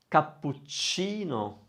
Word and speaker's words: cappuccino: It's spelled with CA at the end, isn't it? Versace. Leonardo da Vinci. Cappuccino.